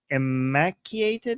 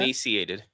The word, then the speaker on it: emaciated: So, fact checks confirmed that many severely imaciated is that how you pronounce that? Emaciated. Emaciated. Oh, emaciated. Yeah.